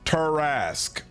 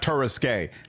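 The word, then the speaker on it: Tarrasque: Pronounced Turasque. Okay. Oh, interesting. Okay, so not Terisque.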